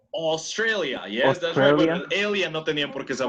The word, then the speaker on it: Australia: do you say Australia you spell it the same as in Spanish but how do you pronounce it Australia yes alien pork is